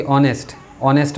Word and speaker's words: honest: लेकिन लगाते हैं एन, इसलिए क्योंकि जो एच होता है ऑनेस्ट के अंदर पे वो साइलेंट होता है। तो HONEST ऑनेस्ट, जबकि हॉनेस्ट नहीं कहा जाता है, ऑनेस्ट कहा जाता है।